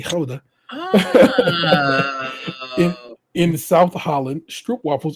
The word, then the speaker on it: Gouda: If you didn't know Gouda, we say Gouda is actually Gouda.